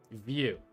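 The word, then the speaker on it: Vue: View.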